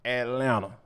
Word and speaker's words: Atlanta: boy Anthony Edwards is straight up Atlanta yes I meant to not pronounce that second T but before we get